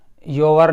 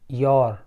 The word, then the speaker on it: your: ये लफ्ज़ है योर, योर नहीं, योर। आर बहुत हल्का सा बोला जाता है, इसका भी ध्यान रखना, प्रोनाउंसिएशन का भी ध्यान रखना।